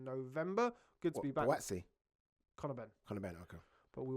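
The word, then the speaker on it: Głowacki: Okay, well, we've rambled on enough for Lawrence Okolie versus Krzysztof Krzysztof Glowacki. Glowacki. Yeah, I'm still working on that pronunciation.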